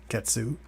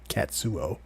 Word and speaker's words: Katsuo: What's funny is that it's actually pronounced Katsuo. Katsuo? Yeah. Okay. Yeah, I was actually gonna because I was pronouncing it exactly the way you were, Ketsu. Until I actually put it through like Google and went through that, and then listened to the translation, and yeah, it's Katsuo.